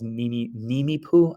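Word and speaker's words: Nimiipuu: They call themselves Nimipu. I think my pronunciation is probably awful, but it's phonetically, it's what it looks like.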